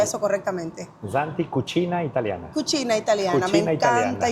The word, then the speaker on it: Santi Cucina Italiana: ¿Cómo se pronuncia eso correctamente? Santi Cucina Italiana.